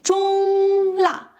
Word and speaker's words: 中辣: 重辣 So when you say 中辣 make sure you hold the first tone high and level before dropping sharply for the second.